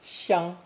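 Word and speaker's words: 想: third character today is xiang from lesson 8 combined with a heart underneath pronounced third tone if you recall the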